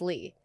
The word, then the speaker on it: Ly: I always say I never lie, so it's Lee, but it's spelled lie.